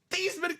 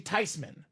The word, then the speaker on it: Theismann: It's actually Theismann. Everyone's been living a lie, Dom. So proper pronunciation is not Joe Theismann, not Joe Theismann. It is Joe Theismann.